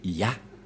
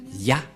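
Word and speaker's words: יה: Qu'on ne doit pas changer, car dès que vous voyez les formes Yod et He, vous le prononcez directement Ya.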